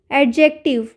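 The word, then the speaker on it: adjective: कर देंगे वैसे ही एडजेक्टिव तो इसमें भी एडजेक्टिव में भी डी का साउंड नहीं आ रहा है ठीक उसी तरीके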